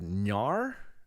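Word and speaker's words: Knarr: a little game called Nar I think that's how it's uh pronounced k n a r r it's kind of like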